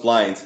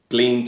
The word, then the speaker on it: Blynd: they can't really tell it's just pronounced blind the because blint or blo or whatever but at